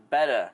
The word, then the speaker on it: betta: people will say so the proper one is actually pronounced betta like bed and most people just say beta and leave it I